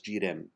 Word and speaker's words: girem: The G is a very soft G. It's not like the word G double E, but much softer. Girem. It has a sort of a Portuguese quality to that.